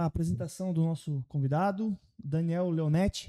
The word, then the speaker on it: Daniel Leonetti: Vamos lá para a apresentação do nosso convidado, Daniel Leonetti, é assim que se pronuncia? É assim mesmo.